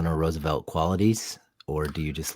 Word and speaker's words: Roosevelt: What's the proper Dutch pronunciation of Roosevelt? Roosevelt. Oh, you just got to R a little harder.